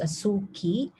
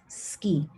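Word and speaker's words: 好き: by the ways uh this is not pronounced asuki but rather you pronounce it as ski okay and this one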